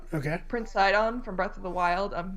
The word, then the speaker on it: Sidon: Like one of the most popular ones I saw was I think it's pronounced Sidon. Okay. Prince Sidon from Breath of the Wild.